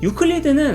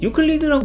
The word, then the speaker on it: 유클리드: 유클리드는 사실 영어로 발음하는 이름이고 원래 발음은 에우클레이데스라고 불러야 한다고 하는데요. 원래대로라면 시저가 아니고 카이사르고 지저스가 아니고 이에소스고 그런 맥락으로 에우클레이데스도 유클리드라고 무식한 미국인들이 지멋대로 부른 거죠.